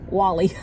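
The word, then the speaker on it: Guale: Upon European arrival, one group of indigenous people living on the coast were known as the Gaul, but it's not Gaul, it's Wally.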